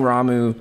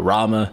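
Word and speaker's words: Ramuh: Materia shocking him using ramu or Rama some of yall pronounce it both ways and just straight blasting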